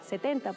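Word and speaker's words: sept: Primero, la P de 7 no se pronuncia.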